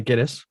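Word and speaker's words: Gittes: And I noticed in the movie they pronounced that 5 different ways. So I'm going to say Giddis.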